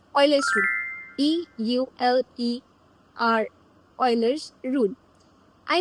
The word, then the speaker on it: Euler: तो इस टाइप के क्वेश्चंस को सॉल्व करने के लिए एक बहुत ही पॉपुलर रूल है जिसको कहते हैं ऑयलर्स रूल. EULER ऑयलर्स रूल. I know the pronunciation is अ bit weird, लेकिन that's not the main thing over here.